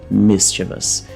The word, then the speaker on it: mischievous: O vus, ele é pronunciado muito rápido, então mischievous, mischievous. E aqui, mais uma vez, a gente tem o som do i, que é esse i curto, de me, mischievous, mischievous.